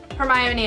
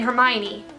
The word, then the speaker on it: Hermione: they were saying in Hermione but there's in another book it actually like phonetically spells it as her my own e weather and where the